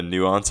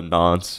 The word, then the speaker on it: nonce: And then a block has a nonce, and someone corrected my pronunciation on this in one of my earlier videos. I was calling it a nuance, I think, and yeah, it's supposed to be called a nonce apparently.